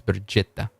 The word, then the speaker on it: Bjetta: And apparently that's how you pronounce it. Betta, not Betta. It's Bjetta.